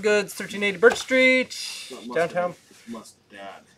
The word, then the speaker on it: Mustad: Mustad. Mustard Hooks. Mustad. Oh, I've been saying it wrong all these years.